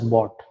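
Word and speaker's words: ⊥: So then we have this the start symbol, which is pronounced as bot.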